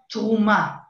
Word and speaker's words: תרומה: In Hebrew it's called truma. And when you are when you are willing to be a truma, a contribution, inside of the word truma, you already have the